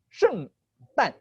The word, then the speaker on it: 圣诞: 圣诞。圣诞。圣呢 it's even it even rhymes with the word saint.